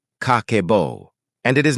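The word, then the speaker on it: 家計簿: It is called Kakeibo, pronounced kah-keh-boh.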